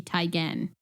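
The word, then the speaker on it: Teigen: news we've all been saying Chrissy Tan's name wrong it's Chrissy tyan so now on we'll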